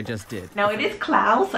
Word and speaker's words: Klaus: ever talk about Netflix this new Christmas movie Klaus no they're not attached why aren't they attached